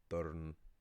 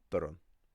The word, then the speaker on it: dorn: But it's not pronounced durn as you might in English. The cluster or N, right? Because there's an or there, to make the pronunciation easier, you add a little vowel sound, so it's pronounced durn, or with the word for blue, same thing.